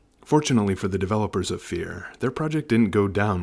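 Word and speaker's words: Phear: It is critical to know that Fear is spelled P-H-E-A-R, because this was the 90s, and everything had to be spelled wrong.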